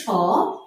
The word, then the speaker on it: স্মরণ: মফলার শব্দের শুরুতে বসলে আমরা নিয়মটিও পেয়ে গেলাম, শব্দের শুরুতে বসলে মফলার উচ্চারণ হবে না, কিন্তু অনেকগুলো বর্ণ আছে যেগুলোর সাথে মফলার উচ্চারণ হয়ে থাকে।